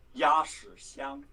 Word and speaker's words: Xiang: Yeah, Xiang. That was actually, I'm mispronouncing it. How do you say it properly, guys? Xiang. Wow, nice. Xiang. Like that? Is that right?